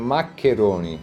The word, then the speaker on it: maccheroni: You spend maccheroni.